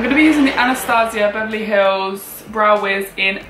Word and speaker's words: Anastasia: how to pronounce it some people say anastasiya and some people throughout Nastasia I've always said on Thursday I'm going to be using the Anastasia Beverly Hills brow Wiz